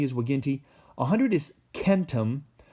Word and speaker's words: centum: 100 is Ken t'm you're gonna want to say centum because of century and stuff like that but it's gonna be Kenta min this in the Latin it's always a hard C sound and then a thousand